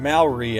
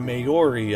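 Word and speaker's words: Māori: I also took the word Maori and butchered it to Maori in another video.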